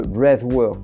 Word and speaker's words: breathwork: aujourd'hui du brave World le bravework prononcé ainsi à l'américaine le Bref et oui